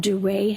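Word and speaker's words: Duret: They're called duray hemorrhages. How do you spell that?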